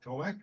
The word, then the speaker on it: Tomasz: Okay, so it's a pleasure to have Tomasz here.